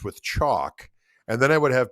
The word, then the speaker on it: Koch: You must have said rhymes with chalk. In my accent, chalk. Yeah. Because he was saying cork.